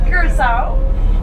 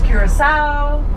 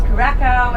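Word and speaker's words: Curaçao: You can just pretend that the second C is the letter S and that makes it super easy to pronounce.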